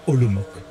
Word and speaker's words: Olomouc: Alors ça se prononce certainement pas Olomouc, hein.